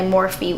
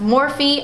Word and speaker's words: Morphe: this one I will continue to get my morphe 1 by the way there's like a bunch of controversy people say that it is pronounced morph and all that stuff but it is actually pronounced more feet I actually was on the phone with customer